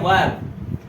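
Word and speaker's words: verb: नहीं नहीं, सब बोलते हैं वर्ब, ये बोलते हैं वर्ब, वर्ब, सब वर्ब कहते हैं, बट एक्चुअल में इंग्लिश में आर जो है होता है वो साइलेंट होता है, बहुत कम उसको बोला जाता है।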